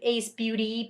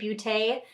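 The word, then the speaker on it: Ace Beauté: This is by the brand Ace Beaute. I believe it's how it's pronounced. It might be Ace Beauty, Beauté. I usually say Ace Beaute though.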